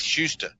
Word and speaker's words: Shuster: huster is that the name you're saying yes Shuster yes s h u s t r is how it's spelled so he's a congressman now you think